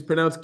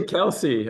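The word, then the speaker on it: Kielce: we say we say Kelsey oh it's Kela oh great polish I didn't know that great well you just only his Kela and we add I between K and E so that's the only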